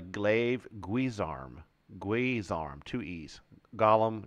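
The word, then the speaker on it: glaive-guisarme: go the glaive guzarm I always said this wrong this is a glaive guise arm glaze arm two e's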